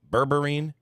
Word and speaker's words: berberine: morning happy Monday happy Monday so am I pronouncing it correctly berberine yeah all right what do you think of